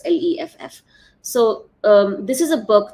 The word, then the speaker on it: Leff: I don't know if it's Leaf or Leff, but I don't know how to pronounce it. It's Leff.